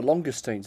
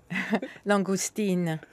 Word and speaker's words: langoustine: I knew as soon as I said that, I think I got it wrong. It depends how posh you are. Katya, would you like to correct my pronunciation on that?